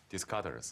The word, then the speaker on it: Descartes: 法国没有这个哲学家，你是照英文的发音在翻译，应该照法文的发音翻译叫 Descartes。